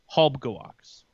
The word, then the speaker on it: Halbegewachs: Well, I talked with some people who talked to some people, and it's exactly as the shirt says. It's Halbegewachs. 3 syllables.